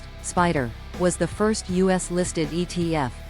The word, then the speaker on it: SPDR: SPDR pronounced spider was the first US-listed ETF making it a pioneer in the field.